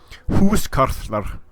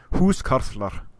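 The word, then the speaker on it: húskarl: H carer H carer in Old Norse it's going to be who who who that that sound is very difficult to pronounce it's sort of trying to make a rolling sound with your tongue who's kler who's kler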